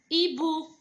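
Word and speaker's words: hibou: الوغ هنا واش نقولوا لو هادي واش نسموها اون فرونسي نسموها لو ايبو. البومه ايبو. دونك نكتبها بالاش وحدها باسكو ما حاش نقرا لو اش.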